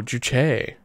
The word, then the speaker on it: juche: jong bad like just i think it's juche i i always thought it was juje but maybe it's juche i don't know is there a oh oh let's see ignore the politics just enjoy the picture here oh juche an interesting emphasis on there sorry let's play that one more time so y'all can hear it again juche english juche pronunciation in